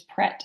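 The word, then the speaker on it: Prêt: Oh yes, Pret, Pret. Prete, which Mhm. you could say pretty. And You some know, people do, yeah, some people do yeah, pronounce it like that. yeah, It's the French verb to be ready.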